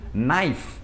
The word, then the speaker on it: knife: E a letra K, quando ela vem antes do N, você já sabe, é uma regra muito clássica do inglês, que ela não é pronunciada. Por exemplo, knife.